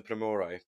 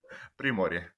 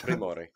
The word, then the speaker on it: Primorje: Do you want to correct me? Primorje. It's Primorje. All right, I'll Primorje. just edit that in. I'll edit that in. Primorje.